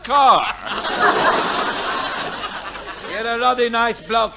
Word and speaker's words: Kerr: and Deborah Kerr, pronounced Carr.